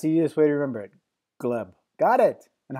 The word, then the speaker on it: Gleb: with Abby that's hideous way to remember it gleb got it and how do you say your